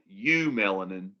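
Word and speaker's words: eumelanin: called true melanin which the prefix that means true is eu and so you have what's called u-melanin which is true melanin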